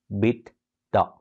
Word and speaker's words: EBITDA: It is spelled as E-B-I-T-D-A, EBITDA, right? Pronounced as EBITDA.